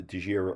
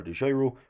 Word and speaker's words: DEGIRO: start investing on the DEGIRO or DEGIRO, whichever way you like to pronounce it.